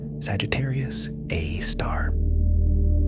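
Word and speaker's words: Sagittarius A*: The super massive black hole at the center of our own Milky Way galaxy is called Sagittarius A, pronounced Sagittarius A star.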